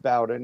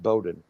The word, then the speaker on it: Bowden: It's if you're down south, it's pronounced Bowden. If you're up north, it's pronounced Bowden.